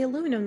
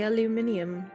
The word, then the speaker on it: aluminium: just like they don't say aluminum, they say aluminium.